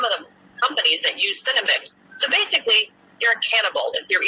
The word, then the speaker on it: Senomyx: Cinnamix is the flavor ingredient, and it's spelled SENOMYX, Cinnamix.